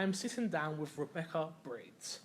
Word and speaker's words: Breeds: I am MC Fixer, and I am sitting down with Rebecca Breeds. I said it right again, didn't I? You did. Right, because it's like the bird.